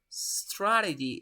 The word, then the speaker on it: strategy: short but now it's yours yes the correct pronunciation is strategy strategy or strategy strategy yep strategy the stress